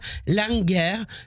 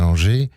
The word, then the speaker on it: Langer: Écoutez, il s'agit du 4e recueil de nouvelles d'Adriana Langer que j'ai édité. Ah oui, moi je dis Langer, mais c'est Langer. L-A-N-G-E-R, mes excuses.